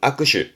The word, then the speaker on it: 握手: 발음은 아크슈.